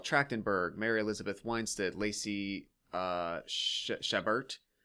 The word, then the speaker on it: Chabert: 32 years, they brought in Michelle Trachtenberg, Mary Elizabeth Winstead, Lacey Chabert. Chabert. If that's how you say it. Chabert, thank you.